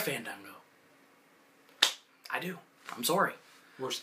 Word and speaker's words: Fandango: No, you got to pronounce his name right. It's not Fandango. It's Fandango, yeah. It's Fandango. Cheap movie tickets was not chanted.